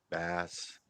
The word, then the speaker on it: bass: mmm no wrong bass it's it's a short a not long a right bass bass yeah it's a